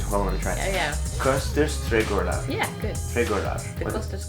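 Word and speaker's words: Kosters Trädgårdar: How do you pronounce it? Koster's Trädgårdar. Can you hold on and try? Yeah. Koster's Trädgårdar.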